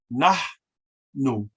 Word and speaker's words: nahnu: An aspirant H in Nuwaubic, just as in Arabic, is when you actually breathe out as you pronounce the H. Nahnu, nahnu, right?